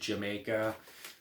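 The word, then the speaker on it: D'yer Mak'er: You got them hitting on reggae with Dia Maker. Some pronounce it Jamaica.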